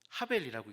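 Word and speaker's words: הבל: 여기서 지금 원어로만 써놨는데 적에다 아벨이에요. 하벨이라고 읽는 단어입니다.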